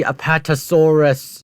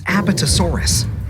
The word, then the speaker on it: Apatosaurus: no not bright sides way of pronouncing the Apatosaurus they could take down even such colossal creatures as aetosaurus but scientists I hate that mispronunciation bro why do they call that aetosaurus